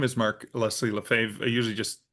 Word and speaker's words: Lefebvre: Uh, my name is Mark Lesley Lefave. I usually just call me Mark because nobody ever wants to spell or pronounce Lefave.